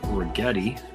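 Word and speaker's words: Righetti: Dave Regetti. rhymes with spaghetti.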